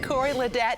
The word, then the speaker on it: Corey Ledet: Once again, Corey Ledette, and that is how he pronounces it, plays at the French Quarter Festival this Sunday evening at the Chevron Cage and Zidico stage.